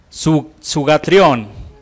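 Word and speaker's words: θυγάτριον: La palabra griega es sugatrión, así más o menos se pronuncia, que significa hijita.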